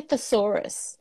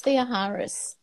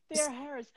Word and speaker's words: Theoharis: They used to say thesaurus, but it's Theoharis. Theoharis.